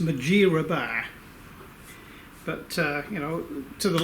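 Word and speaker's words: Mudgeeraba: overlooking the Gold Coast at a place called Mathura bar it's actually pronounced majira bar but you know to the locals it's mud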